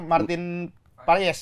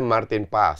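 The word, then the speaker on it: Maarten Paes: yang baru e kiper Martin payes Martin payes engg bacanya Martin pas Martin pas Martin pas Oh yang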